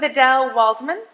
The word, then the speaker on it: Adelle Waldman: So here I am with Adelle Waldman. Is that correctly pronounced?